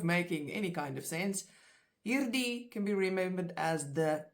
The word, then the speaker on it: hierdie: We talk too fast, we mispronounce, and we leave out the D.